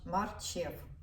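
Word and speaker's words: marchew: знаю точно як і марчев марчев наголосних ж на предпоследній цей склад марчев короче морковно-яблучний сок все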